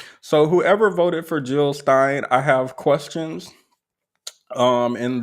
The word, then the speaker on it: Stein: people who voted for Jill Steen Stein now let me look how this is pronounced to make sure I'm not like gentrifying somebody's name Stein here let's practice together Stein Stein Stein Stein Jill Stein Stein Stein got it so whoever voted for